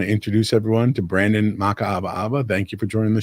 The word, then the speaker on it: Makaawaawa: And I want to take a moment and just introduce everyone to my guest this week, Brandon Makaawaawa. It took me a while to figure out how to pronounce that, but I got that right, Brandon?